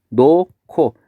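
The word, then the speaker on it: 놓고: 노코. 앞음절의 히읗과 디음절의 기역이 만나서 발음이 노코가 되겠죠.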